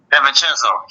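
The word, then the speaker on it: DiVincenzo: you pronounce his name Delo how how you pronounce it Deon chenzo Deon chenzo gold to State real idiots for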